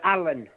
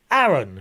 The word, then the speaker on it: Aaron: which helen is that no alan aaron everybody gets my name wrong yeah it's my dodgy southern accent a-a-r-o-n where's aaron do i